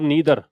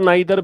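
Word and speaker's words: neither: नीदर बोलने की आप इसको आइदर नाइदर पढ़ें दोनों ही एक्सेप्टेबल है दोनों ही प्रोनंसिएशन इसके हो सकते हैं आइदर भी हो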